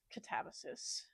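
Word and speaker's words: Katabasis: I know that it's pronounced catsis. I think that's dumb. I will be pronouncing it as katabas.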